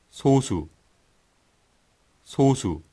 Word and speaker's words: 소수: 발음하는 거고요 예 그리고요 소를 장음 으로 발음 하네요 한번 들어볼까요 소수 소수 우리가 소수의 의견을 존중해야